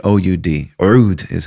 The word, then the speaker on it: oud: Oud, O-U-D, or Oud is how it's pronounced, but you don't have to say Oud.